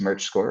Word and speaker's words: Merchscore: is uh it's pronounced merge score right just like merchandising and i'm going to